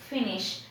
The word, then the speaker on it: finish: Complete, we will have the stress here in the second syllable, and finish, we will have the stress in the first syllable.